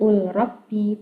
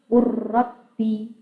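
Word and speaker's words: قُلْ رَبِّ: Nah, bacanya bukan ul robbi, tapi cara membacanya yang paling sebelah kiri itu ya, bacanya bukan ul robbi tapi ur robbi.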